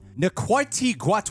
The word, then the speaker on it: Ncuti Gatwa: this doctor play by the correct pronunciation is NTI guat he nailed it we're